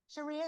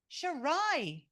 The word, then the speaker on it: Sharai: Sharia, is that right? No, how is it pronounced? Tell me, I don't want to get it wrong. Sharai.